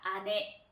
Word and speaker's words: 姉: 근데 또 하나만 해서 언니나 누나 이렇게 훈독으로 발음을 할 수가 있는데, 훈독으로 발음을 했을 때는 언니나 누나는 아내라고 표현을 합니다. 아내.